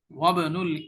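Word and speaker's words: وابن: এখানেও দেখো উচ্চারণ লিখেছে নিচে, এখানে কিন্তু ইবনুনের মধ্যে আই উচ্চারণ হয়েছে শুরুতে। ইবনুল মুদাররিসি তাবিবুন, ওয়া ইবনু নাই কিন্তু আই নাই।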